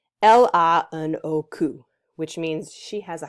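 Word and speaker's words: L.H.O.O.Q.: And if you say it correctly, the right way in French, it reads out LANOQ, which means she has a hot butt, or she has a hot ass.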